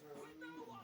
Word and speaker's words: quinoa: It's pronounced quinoa.